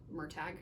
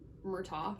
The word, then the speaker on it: Murtagh: I was quite disturbed at the book event to find out that it is pronounced Murtagh. I've been calling him Murtagh for years.